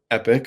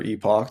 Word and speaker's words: epoch: essentially means is that per epic or Epoch depending on how you say it um you can have